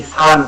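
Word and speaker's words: さん: আর এখানে আমরা হচ্ছে বাংলাদেশে যারা জাপানি ভাষা শিখতেছি আমরা হচ্ছে সবাই সান বলে থাকি। তো এটাকে এরপরে জাপানিজের মুখে হচ্ছে এরকম করছে, এটাকে হচ্ছে অনেক সারির মতো উচ্চারণ করেন, সাং ইয়ং এরকমটা বলেন।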